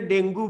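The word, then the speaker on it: dengue: डेंगी माने हूँ आम ओडिया रे डेंगू फीवर, इंग्लिश रे प्रोनाउंसिएशन तार हूँ डेंगी, मन रखी था। आम सब कहू डेंगू, डेंगू हूँ प्रोनाउंसिएशन ठीक नुह, डेंगी फीवर।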